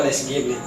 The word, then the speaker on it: Les Giblin: Bukan Les Bimbel atau Les apa teman-teman, ini dia nama Les Giblin. Entah dia cara baca Inggris teman-teman, tapi sudahlah, itu pelafalan Inggris paling baik teman-teman.